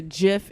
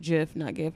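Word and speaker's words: GIF: saying and all the the Jeff images cuz that's what this actually pronounced jiff anyway so the whole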